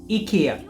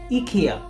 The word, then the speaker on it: IKEA: correct but being a Swedish company the authentic pronunciation is akia the company has taken in more customer-friendly approach depending on the region in the UK and European ads they say IKEA there as their American ad say IKEA the